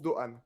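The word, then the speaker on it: Doğan: ça c'est quid de gamme mais ça se prononce doan voilà bien la ligue 1 eric mais non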